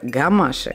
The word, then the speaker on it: гамаши: На самом деле, правильное название – это гамаши. И произношение, ударение тоже – гамаши.